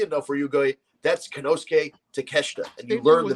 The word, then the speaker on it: Konosuke Takeshita: AEW has this kid Konosuke Takeshita. Yeah. And if you read it out phonetically, if you're an American, you read Kanosuke Takashita. You know what I mean? That's how you would read it.